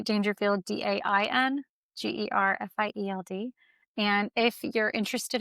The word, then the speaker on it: Daingerfield: My handle is Daingerfield, not Rodney Dangerfield. I do spell it different, but it is Daingerfield, DAINGERFIELD.